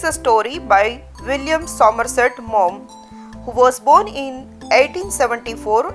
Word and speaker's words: Maugham: Here G-H-A that is silent in his surname.